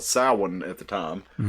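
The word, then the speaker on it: Samhain: But basically uh it's was called Sin at the time and it's I don't I still don't know why they pronounce it sin when it's spelled Sam Hayne.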